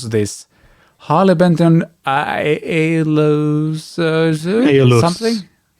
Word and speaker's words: Aeolus: Moving on to the next one, which is called, help me out, how on earth do you pronounce this? Harley Benton Aeolus something? Aeolus.